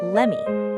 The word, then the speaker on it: let me: She pronounced it as lemmy. Just like give me turns into gimme, the words let me turn into lemmy in fast casual speech.